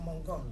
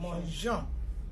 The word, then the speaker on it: mangeons: also the pronunciation because we don't want to hear the sound mongon. We don't put the E, it will sound like mongon. But we have to retain that pronunciation je, manger. So mangeons.